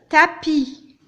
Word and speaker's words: tapis: Souvent, on n'entend pas le son S. Il est placé à la fin du mot, mais je ne le prononce pas, je ne l'entends pas. Le repas, le tapis, pas, une fois, tu